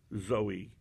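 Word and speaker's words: ζωή: not understand it now the greek word therefore life zoe just like the young lady's name z-o-e with a long e refers to resurrected life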